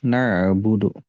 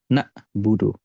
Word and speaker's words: na'budu: itu sukun ya na'budu huruf ainnya di sini sukun nah biasanya permasalahan dalam pengucapan huruf Ain yang sukun Itu adalah huruf ainnya seperti Hamzah atau huruf ainnya itu di jeda seperti ini contoh jedanya na buudu nah i IUD Nah itu dijedah ainnya itu terjedah iaka naudu